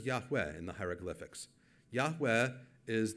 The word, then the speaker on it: Yahweh: by Jews today but they pronounced it Yahweh if you know Hebrew you're confused because there's no W sound now but there was then so what are the